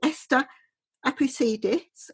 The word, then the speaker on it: Esther Apoussidis: I would like to introduce you to Esther Apoussidis. Have I pronounced it right?